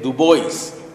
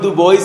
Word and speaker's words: Du Bois: Du Bois, que pronunciamos Du Bois en Estados Unidos porque es donde él nació y donde desempeñó la mayoría de su trabajo intelectual y político. Pero pues en francés sería Dubois, y lo que pasa